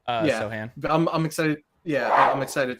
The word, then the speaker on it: Sochan: in year 2 is Sochan. Is that how you pronounce it, or Sochan? Sohan.